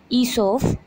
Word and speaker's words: Aesop: ईसोप pronounced ईसोप वॉज a famous story teller.